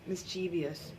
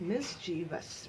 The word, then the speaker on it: mischievous: और अगर हम लोग इसे प्रोनाउंस कैसे करते हैं, मिस्चीवियस, मिस्चीवस. It's not that. It's the correct pronunciation is mischievous, mischievous.